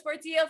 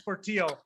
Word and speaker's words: Portillo: to pick one and his last name rhymes with the city that he lives in whoa put your hands together for portillo from camarillo hey everybody i'm portillo and i live in